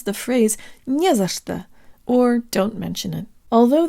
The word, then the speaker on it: не за что: to pronounce the phrase "nie za что," or don't mention it. Although there are 3 little words in this phrase, it functions just like a single word, with only one stressed syllable, nie.